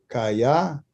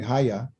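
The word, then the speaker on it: היה: And there was Kaya, okay, or excuse me, Haya.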